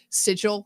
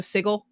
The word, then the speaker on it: sigil: doesn't happen yet, but the first time that Matt uh has ever mis mispronounced the word sigil is this game. He says, "There's a sigle."